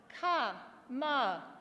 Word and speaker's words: Kamala: That's 3 syllables, right? I've got another word with 3 syllables. It's Ka-ma-la.